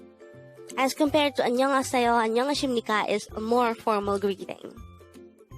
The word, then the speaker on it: 안녕하십니까: The first part, Annyeong, could be further divided into 2 syllables. Annyeong. An is formed from the combination of the sounds a and nian, while nyong is formed from the combination of the sounds nian, yo, and iya. So that's Annyeong.